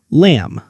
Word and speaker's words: lamb: We write l a m but we say lamb.